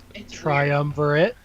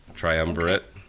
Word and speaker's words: triumvirate: There is a new dungeon, seat of, I don't even know, how do you pronounce this? Triumvirate? Okay, that sounds way better than what I would have said. Triumvirate. Triumvirate.